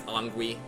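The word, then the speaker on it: Anguis: But they have the term is Angui. It's spelled like A-N-G-U-I-S.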